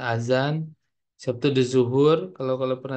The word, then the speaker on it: azan: Kalau D ini AD itu misalnya azan, kan tulisannya adzan ya. Jadi yang benarnya azan.